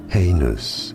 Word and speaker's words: heinous: Heinous. Heinous is how you say it. Heinous. Heinous. Both British and American pronunciations are similar here, so it's easy.